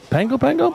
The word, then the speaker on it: Pago Pago: Pango Pango? That's No, how you it's pronounce Pago it.